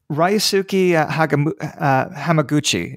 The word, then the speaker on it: Ryusuke Hamaguchi: I think you're going to actually bring up one of the ones that I saw, but the one I chose Ryusuke Hamaguchi is how you say it.